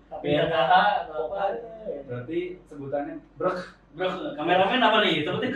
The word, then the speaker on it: BRKH: Jadi Beras, pas dapat skrip, gue juga bingung bacanya berkah. berkah atau BRKH atau apa? Berarti sebutannya brek.